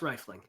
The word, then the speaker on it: rifling: clarification your honor um is it pronounced riffling or rifling I so as I was saying it I was I was wondering um I I always said rifling but you know yeah I I don't know if I'm right are there two FS there is one F okay well then yes rifling rifling is how I've pronounced it but listen riffling sounds